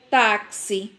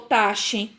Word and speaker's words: táxi: Táxi. O som do X apareceu? Não, não é? Não ficou taxe. Então, eu tenho que ler táxi.